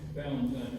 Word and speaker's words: Valentine: My name's Greg Valentine, G-R-E-G, Valentine, it's like Valentine's Day, V-A-L-E-N-T-I-E.